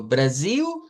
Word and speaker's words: Brasil: Y digo Brasil, Portugal. Esas son parte de las cuestiones de los cambios que hay en los fonemas. Vea que se escribe una L al final, usted la pronuncia como U.